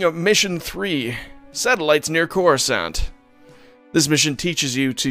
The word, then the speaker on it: Coruscant: the the part where they weren't sure how to say coruscant like what the pronunciation was in this gaming he calls it core scant which is what i called it as a kid in um star wars rebellion i believe r2d2 calls it crescent it was it wasn't